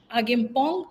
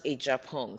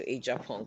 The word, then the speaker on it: Agyepong: you can is pronounce ajong so it's like a j so aong but it's close enough